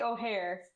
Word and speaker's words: O'Hare: Well, it's actually O'Hare. O'Hare. Oh, okay.